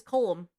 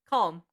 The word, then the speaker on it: Colum: But her last name is Gibb and Punchup is Colum. I'm sorry. Column. He does pronounce it properly, unlike Red Dead Redemption 2.